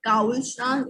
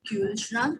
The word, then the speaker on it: Kühlschrank: Similarly, no specific that Kaulschrank, it will be Kühlschrank.